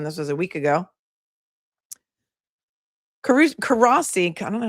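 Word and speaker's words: Courossi: I'm gonna say Karasi asked not like not Karesi, not like Karesi in SVU cuz he's a good guy. Karasi asked the victim questions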